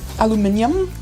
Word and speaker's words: aluminium: Aluminium. Aluminium. So, I think it's intuitive to to figure out either pronunciation of aluminum or aluminium.